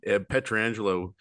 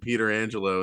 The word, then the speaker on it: Pietrangelo: So I just love how in Pittsburgh we've called him Frank Pietrangelo, and then all of a sudden Pietrangelo comes along. We're like, wait, hold up, that's spelled the same. Were we wrong this whole time?